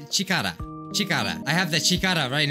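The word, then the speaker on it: 力: That's the kanji for power. You say, how you say it is chikara.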